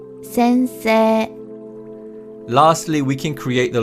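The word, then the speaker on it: 先生: 先生、 The final character is e, but this character is not pronounced, and instead we pronounce the vowel sound in se as a long vowel sound. So it's 先生、 Lastly, we can create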